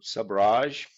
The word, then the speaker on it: sabrage: So sabrage, in English Oxford Dictionary, it was pointed out to me at an event in London that this is how you say it in English properly. Sabrage.